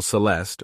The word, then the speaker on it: celesta: Pronounced celeste, it is the instrument featured in Tchaikovsky's Dance of the Sugar Plum Fairy.